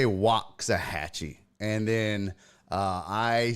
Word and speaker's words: Waxahachie: And he even asked, is it Waxahachie? They say Waxahachie.